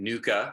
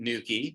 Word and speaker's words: nuchae: I'm no longer calling it nuca. I'm calling it nuchae because that's the way you're supposed to really pronounce it.